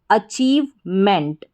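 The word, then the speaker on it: achievement: अचीव और एम ई एन टी हमारा code है। मेंट करके इसको पढ़ा जाता है। तो पूरा बन गया अचीवमेंट। पहले है अचीव। अ यानी ए फिर चीव। सी एच को च आई ई वी ई को ईव और एम इ एन टीमेंट अचीवमेंट अचीवमेंट का मतलब होता है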